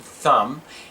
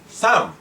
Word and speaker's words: thumb: When the letters MB are together in a word, the B is silent as in thumb and bomb.